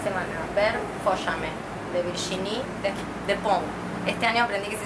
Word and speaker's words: Despentes: Estuve 10 años diciéndole Despentes. Este año llegué a Barcelona y me enseñaron que es Despont. Bueno, Yo digo, todo el mundo dice Despentes acá en Buenos Aires, no se dice Despentes, se dice Despont.